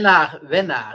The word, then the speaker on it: winnaar: And we say winnaar. It's WINNAAR. So instead of ER, it's AAR.